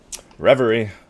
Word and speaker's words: Revery: Revery. For the longest time, I did not know how to pronounce this word. I thought it was rev or something stupid, but no.